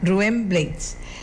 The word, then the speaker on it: Rubén Blades: Rubén Blades, dice Rubén Blades que él se pronuncia Rubén Blades y él se unió